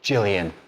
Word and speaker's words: Gillian: Gillian, like Gillian Anderson.